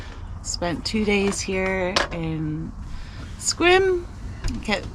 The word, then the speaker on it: Sequim: to do we've spent two days here in squim I kept pronouncing it squin but it's actually pronounced squim um picked up our packages we saw our